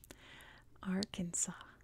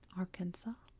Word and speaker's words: Arkansas: the French pronounced it Arkansas the English pronounced it Kansas and that's why we have those names Arkansas is spilled with an S at the end silent s because it comes from